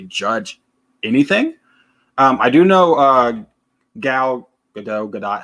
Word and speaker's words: Gal Gadot: It's Gal Gadot. Gal Gadot. I always said Gal Gadot, so I was wrong.